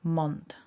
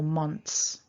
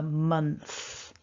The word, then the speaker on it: month: pronounced we're going for month so get that tongue out month so coming back to the word there's that o that often tricks people don't over pronounce it it's just a little